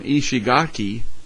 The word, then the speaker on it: Ishigaki: Reynolds here James Reynolds he was over here on Ishigaki that's how you say it and he missed